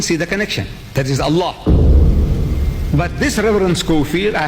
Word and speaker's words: Allah: If it's A-L-A-H, is Allah. You say Allah. I said, look, say Allah.